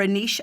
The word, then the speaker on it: niche: important to follow and niche or aneasha as we pronounce it in Ireland when it comes to